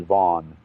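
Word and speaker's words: Vann: We think he's a man in prison in Indiana, um, Darren Dion Vaughn. It's spelled Van, V-A-N-N, but he pronounces it Vaughn.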